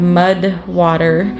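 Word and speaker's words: MUD\WTR: Um my husband actually just started using uh we have mud water. Uh I think it's m u d wtr. I don't think it the water part is spelled out, but it's a mixture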